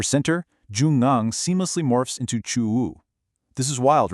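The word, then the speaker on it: ちゅう: Now shift over to the Japanese anomi, it is pronounced chu.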